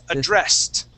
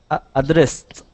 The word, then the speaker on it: addressed: t or a d if it ends with an s we go straight to a t sound the word is addressed addressed good one more time